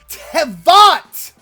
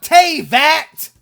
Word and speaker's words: Teyvat: Tevat! Not Teyvat!